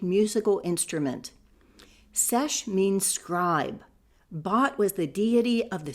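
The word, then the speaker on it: Bat: Nagamadi in pre-arr times was the spiritual center of bot which I represent as b a t for pronunciation and comparison to ball.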